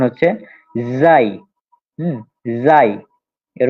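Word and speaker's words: زاي: এবং এই হরফটা যেটা আমাদের এই যার উচ্চারণ হচ্ছে জাই। হুম, জাই, এর উচ্চারণটা হচ্ছে জাই। হুম, অনেকটা বাংলাদেশে উচ্চারণ সাধারণত করে ঝা, যা, এরকম।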